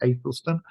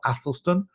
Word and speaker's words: Athelstan: all those kingdoms is King Athelstan, and that's how that's pronounced, Athelstan or Athelstan.